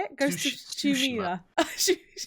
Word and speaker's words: Tsushima: Ghost of Tsushima. Tsushima.